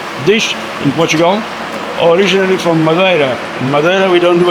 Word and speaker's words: Madeira: Not Madeira. Madeira. Madeira. Madeira. Okay, I was always saying it wrong this entire time. That's the way they say in South Africa, is Madeira.